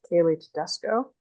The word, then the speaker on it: Kailey Tedesco: I'm here to talk today with Kailey Tedesco. Did I pronounce that right?